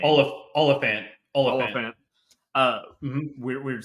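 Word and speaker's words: Olyphant: Oliphant.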